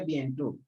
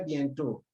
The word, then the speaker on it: bientôt: Bientôt, the O keeps the same sound O, despite the accent.